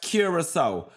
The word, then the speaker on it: Curaçao: Oh they say cute it's pronounced Curaçao.